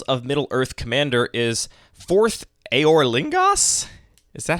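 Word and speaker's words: Forth Eorlingas: the Rings Tales of middlee Earth Commander is fourth aor lingos is that how it's pronounced yeah I also need it has an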